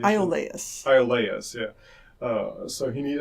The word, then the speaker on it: Iolaus: What's the right pronunciation? Iolaus.